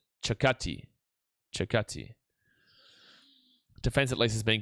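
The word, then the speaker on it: Circati: So that's Alessandro Saccaci. Saccaci. It's Chi at the end. I remember he did a pronunciation of his name the other day on Instagram. Chakati.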